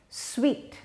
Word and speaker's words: suite: it's like getting a suite just remember that sweet it's sweet to get a sweet so sweet is the